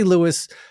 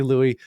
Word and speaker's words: Louis: away thinking about Lewis Armstrong and I say lewiis most people say Louie because it was James M igleheart who said that he his the real pronunciation is Louis and and it just became this cultural thing